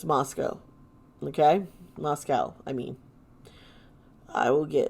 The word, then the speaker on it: Moscow: Moscow, Idaho is, yes, it's pronounced Moscow.